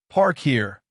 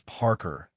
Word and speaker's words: Parker: It's Parker, ma'am, like someone who parks a car. A few students giggled. Ms. Greene's eyes narrowed slightly. Park here, she repeated, somehow making it sound even more wrong.